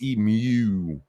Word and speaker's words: emu: It's not emu, it's emu. You got to add that sound at the end, which is weird.